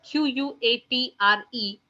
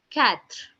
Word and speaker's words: quatre: 4 is written down as QUATRE, which is being pronounced as quatre, quatre. Okay.